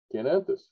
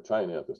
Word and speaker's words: Chionanthus: American fringe tree, Chionanthus, or Chionanthus, depending on how you say it.